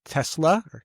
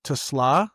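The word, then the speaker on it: TeSlaa: Third round pick from this year, Isaac Tesla, Tusla, they pronounce it.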